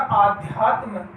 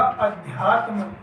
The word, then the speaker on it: अध्यात्म: अगला शब्द है हमारा आध्यात्म, दोस्तों ये अशुद्ध है, और इसका शुद्ध हो जाएगा अध्यात्म।